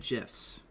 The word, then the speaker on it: GIF: or gifts okay well the creator of the format says they're pronounced Jif right and then you